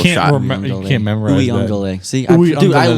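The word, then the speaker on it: Uiagalelei: Uyunglele. Yes, correct. I even have the pronunciation on here so I wouldn't mess it up, and I still did it.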